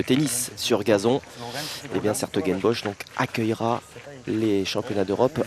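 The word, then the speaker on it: 's-Hertogenbosch: d'ailleurs, on ira au niveau des Europes à Sertogenbosch durant d'ici une quinzaine de jours. Ou Bois-le-Duc d'ailleurs, hein, il y a la prononciation française, il y a un célèbre tournoi de tennis sur gazon. Et bien Sertogenbosch donc accueillera les championnats d'Europe un petit peu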